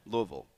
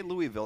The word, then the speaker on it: Louisville: and it say it say it how the locals say it Louisville Louisville yeah there you go see if you say Louisville everybody knows you're not from there right it's Louisville um you played at Morehead